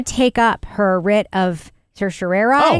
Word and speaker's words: certiorari: It's also everybody pronounces it differently. Like on my podcast um Civics 101 that we do at NHPR, they It's certiorari.